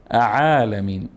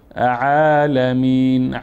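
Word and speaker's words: الْعَالَمِينَ: متوجه باشی که الحمدالله رب عالمین عالمین نخوان گفتیم الف نط کردیم در حالی که اینجا عین است الحمد لله رب العالمین عالمین خب الحمد لله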